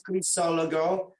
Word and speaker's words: Crisologo: It's Crisologo. Sometimes I pronounce it Crazy Logo because I'm crazy.